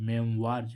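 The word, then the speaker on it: memoir: ना तो मेम बर्ज मीस ओ आई का उच्चारण ओ आ रहा है मेम वार्ज मेम बर्ज मींस आत्म काथा ऐसे इसमें देखें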